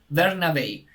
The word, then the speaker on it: Bernabei: Bernabei, Alexandro Bernabei. What is easy in Spanish is that you just need to pronounce what you read.